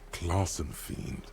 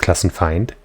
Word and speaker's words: Klassenfeind: Take this Klassen fiend down. It's pronounced Klassenfeind. Please. Come on, you're pronouncing all this French shit, but you can't say find?